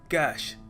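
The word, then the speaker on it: cache: pronounce करने का सही तरीका है कैश जी हां कैश लिटरली जैसे नकद कहते हैं ना कैश वैसे ही इसको प्रोनाउंस करते हैं सो आपके कंप्यूटर में कौन सी मेमोरी है कैश मेमोरी है ऑल राइट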